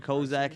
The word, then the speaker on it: Kozak: It's pronounced Kozak.